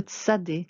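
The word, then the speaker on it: צדי: Le tsadé qui se prononce ts et qui a aussi une forme finale.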